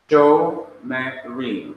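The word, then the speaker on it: שומרים: Shomerim. This word means watching or guarding or keeping. Shomerim. So when the shewa comes after the long vowel, kolem, it is to be pronounced.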